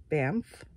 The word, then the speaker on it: Banff: read it, but then it says Japan and Banff, that's how you say it, in Canada.